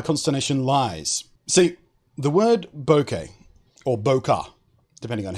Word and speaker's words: bokeh: lies see the word bouquet or bokeh depending on how you want to pronounce it I think bokeh is actually the more accurate pronunciation but I always say bouquet for some reason to